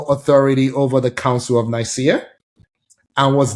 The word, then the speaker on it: Nicaea: Nicaea, thank you.